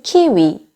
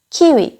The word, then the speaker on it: 키위: 한국에서 똑같이 키위, 키위, 키위. 한국에서 똑같이 씁니다. 키위, 키위. 좀 더 음절이 정확하죠. 키위. 두 이음절이에요. 키위, 키위. 딱딱 끊어지게 정확하게 두 음절로 발음해 줍니다.